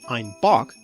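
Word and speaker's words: Einbeck: a German town called I'm Bek which when pronounced with the Bavarian accent sounds like I'm Bach meaning a goat and so beer labels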